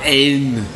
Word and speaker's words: haine: Et là, avec la haine avec un H non tapis. H n'existe pas. On ne prononce pas.